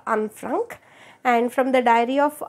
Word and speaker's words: Anne Frank: name ante uh because it is a proper noun pronounced she's a Dutch girl kabati uh I I pronounce it as unfrank and from the diary